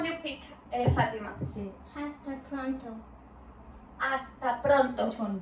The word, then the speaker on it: hasta: Do you hear that I say hasta, not hasta? In Spain, H we don't pronounce. Okay? It's a difference. So, hasta pronto.